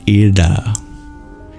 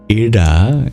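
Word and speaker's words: इळा: The oldest example is a form of the divine called Ida. Ida is spelled in two different ways, because in Vedic Sanskrit it was a kind of L sound, but you curl your tongue back.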